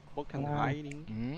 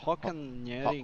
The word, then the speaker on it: Hockenheim: Tô falando de Road América, tô falando de Hockenheim. Eu já fazia isso aqui. Isso aqui é alemão, né? É. Como é que se pronuncia isso? Hockenheim. Hockenheim.